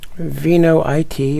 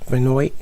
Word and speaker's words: Vinoit: Hey, I think these wine kits are a great way to get started making wine, and the Vinoit or Vinoit, depending on how you want to pronounce it, is a great way to get started.